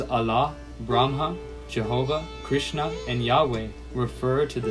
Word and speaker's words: Krishna: universe addressed as krishna in this part of india the name krishna is pronounced krsna because of different languages